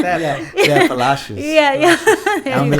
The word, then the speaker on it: Palacios: Yeah, Palacios.